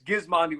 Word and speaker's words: Gismondi: So we started saying it's Gizmondi with a hard G.